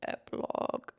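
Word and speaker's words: epilogue: that word so wrong I'm saying Epi because it's like an epip pin but watch it be nothing like that we are looking at how to pronounce this word epilog EP I was totally saying wrong epilog anyways that book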